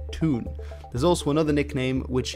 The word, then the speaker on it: toon: city itself toon toonami this nickname comes from the geordie pronunciation of the word town being toon there's also another nickname